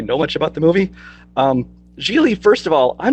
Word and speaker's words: Gigli: said about is when you said the title jiggly you should probably at the title right it's pronounced Gigli otherwise I tells me you don't even really know much about the movie Geely first of all I'm